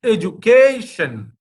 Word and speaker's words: education: out a judication so there are four and the sun is the last syllable just before that that means c a k that should be stressed that means education education when i teach this